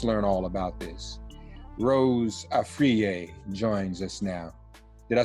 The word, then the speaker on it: Afriyie: so let's let's learn all about this Rose arier joins us now did I say it right